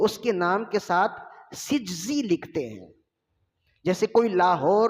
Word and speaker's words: سجزی: ہے، تو اصل لفظ ہے سجزی، نون کا نقطہ نہیں ہے، نون کا نقطہ آگے جائے گا وہ زے پہ لگے گا، وہ رے پہ لگے گا اور زے بنے گا وہ۔ تو صحیح تلفظ یہ ہے، یہ غلط العوام ہے،